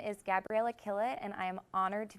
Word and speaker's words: Killett: And it's pronounced Killett, like she's killing it here at Loyola University.